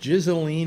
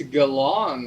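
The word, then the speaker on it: Ghislaine: but uh yeah uh is it pronounced jizzaleen maxwell it's galon according to that jeffrey epstein documentary on okay yeah because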